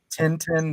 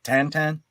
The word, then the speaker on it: Tintin: Hey, here in the States we've always called it Tintin, the character, the classic character, but it's actually pronounced Tantan.